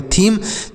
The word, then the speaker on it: theme: अगला है THEME, तो TS से थौ हो गया, ई से बड़ी की मात्रा, एम से म हो गया, और ई का उच्चारण नहीं होगा, तो इसे पढ़ेंगे थीम।